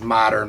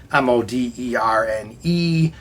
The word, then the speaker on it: Moderne: had a very modern, which it gets mispronounced a lot as modern, but it's Moderne, so most people agree that it's Moderne.